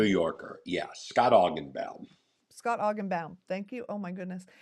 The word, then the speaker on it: Augenbaum: Scott Augenbaum.